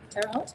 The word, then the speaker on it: Terre Haute: become a new person and people of uh tara heart terre haute did i say that correctly yes so there's a rich trick on the pronunciation front people terre haute said yeah you